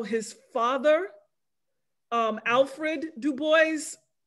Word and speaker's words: Du Bois: new bedford mass um pronounced his name as far as i know du bois and he was the